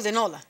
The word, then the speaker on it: De Nola: But I was saying to you De Nola, like very Italian. Yeah. But it's De Nola.